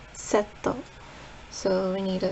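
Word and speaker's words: セット: In Japanese it's setto.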